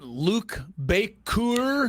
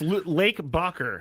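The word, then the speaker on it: Bachar: Oh, it's Lake Bacher. There we go. Bacher. Like he's soccer soccer with a B.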